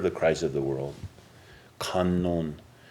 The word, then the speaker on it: Kannon: Kannon. That's one of the ways to pronounce the Chinese, the Japanese pronunciation of the Chinese.